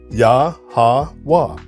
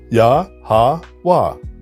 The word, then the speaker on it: YaHaWah: So if we reconstruct this pronunciation, it's YaHaWah, YaHaWah. We replace the E with an A, the O with an A, and the V with the W. YaHaWah, YaHaWah.